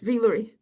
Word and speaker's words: Vie Lorie: Very.